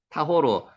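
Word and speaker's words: טהור: 타르가 정결한이란 뜻입니다 정결한 타오르 한번 해 보세요 타호르 오른쪽에서 왼쪽으로 읽는 거 요건 아시죠 타호르 요게 오 발음 나죠 타오르 지금 발음에 대해서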